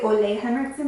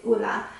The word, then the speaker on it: Ole Henriksen: I always want to say Ole Henriksen because that's the way that it's spelled, but it's not Ole Henriksen, it's Ola.